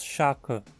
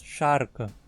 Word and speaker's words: Scharke: Não dizemos shaka, mas sharka.